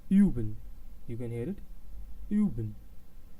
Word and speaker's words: üben: The example for U and how we pronounce it, I will pronounce it in a word which is üben. Üben, you can hear it, üben.